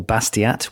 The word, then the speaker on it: Bastiat: French economist was called Frederick bestia or Basquiat with English pronunciation and he wrote an